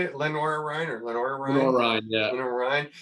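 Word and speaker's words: Lenoir-Rhyne: Lenoir Ryan or Lenoir Ryan?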